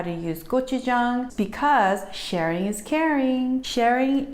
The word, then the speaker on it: gochujang: red pepper paste called GoChuJang, and simply is pronounced as go, like G-O, chew, like C-H-E-W, like chewing, Chung, like bang, but with a J. So it's GoChuJang.